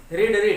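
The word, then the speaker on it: read: जैसे the students रेड English, है तो स्पेलिंग सेम, रीड, लेकिन यहाँ पे रेड प्रोनाउंस होता है, पढ़ता है, ठीक है।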